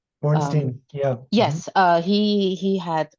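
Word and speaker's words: Borenstein: And what comes to me is sorry, I think I butchered his name, Boristin. Bornstein, yeah.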